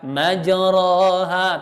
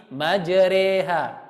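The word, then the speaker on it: مجراها: Jadi nanti ma'syiral muslimin sekalian kalau baca Al-Qur'an jangan baca majraha tapi majreha. Dia dimiringkan bacaannya.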